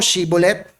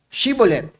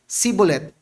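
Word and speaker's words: Shibboleth: God ah sige nga sabihin mo shibolet shibolet okay pasado nabigkas niya yung sh daang ka biglang may dumaan ikaw taga saan ka anong tribo mo taga Zabulon po ako. Sabihin mo nga sabi nung taga Sabolon sibolet huli ka.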